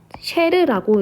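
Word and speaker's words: chair: 이게 영어로 영어가 아니라 어 불어서 쉐르라고 읽는다고 합니다.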